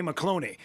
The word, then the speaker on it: McCloney: finger and he went, "It's Fancy Ray McCloney. It rhymes with baloney."